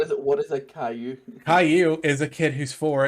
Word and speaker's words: Caillou: over here in america for some reason it's spelt like kahlua and it's spelt like